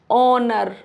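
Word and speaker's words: honour: Honest ऑनर आवर air clear ये rule number seven है।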